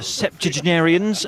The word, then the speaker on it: septuagenarian: Okay, he missed the but he got the chew part in there. I've never heard it pronounced that way. Septuagenarian, but it's not spelled that way.